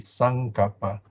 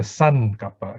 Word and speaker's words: saṅkappa: over the end so it has a value of ng sun kappa like in fact before